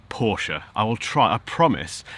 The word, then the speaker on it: Porsche: Porsche sorry firstly let's get the name right Porsche I will try I promise I'll try and